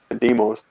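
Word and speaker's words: Deimos: Is it Damos? Did I pronounce it correctly? Demos. It's the name of a moon, and as well as a god of war. So uh, it's a Greek name.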